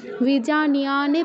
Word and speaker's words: विजानीयान्: विजानीयान्, এখানে নিতেও দীর্ঘ করতে হবে, ইয়াতেও দীর্ঘ করতে হবে, মূর্ধন্য হসন্তে এসে থামতে হবে যদি থামতে চাই।